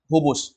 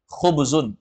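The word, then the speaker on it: خبز: alubzu paham ya biasanya orang kalau di sana bilangnya hubus jadi nanti kalau di sana kalau antum pergi ke Arab misalnya ke Makkah atau Madinah Nanti kalau ada yang bilang alhubus dia bilang hubus hubus ya maka itu maksudnya roti jangan heran ya kalau kita bilangnya khubus memang bahasa Arab fasihnya khubzun alubzu tapi ya sudah perubahan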